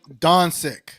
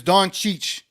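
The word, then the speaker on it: Dončić: playoffs in him donk can people stop saying donik it is donich donich that donich right that's the way you say it not Don six try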